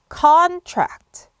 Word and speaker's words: contract: 이때는 액센트가 앞에 옵니다. contract, con을 좀 길게 빼시고 on 이런 발음이 나오셔야 되고요. contract라고 발음하시면 됩니다.